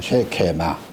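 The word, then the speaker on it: שקמה: 그 뽕나무라는 그 히브리 단어의 기본적인 그 발음이 쉐케마입니다. 쉐케마.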